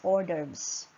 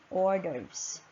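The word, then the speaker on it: hors d'oeuvres: we have the orders we read that word as orders and silent s and orders this are small portions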